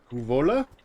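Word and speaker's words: Kouvola: We have discovered Kuvola. That's how you pronounce it.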